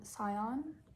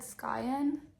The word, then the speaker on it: scion: So I think I always said I said skyen but it's written s c i o n so I believe it's scion.